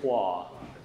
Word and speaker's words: Hua: No, they would call me Wah. Yeah. Yeah. But my name's actually Hua. But I mispronounce my name routinely, just for whatever reason. So they would call me Hua, but it's actually Hua.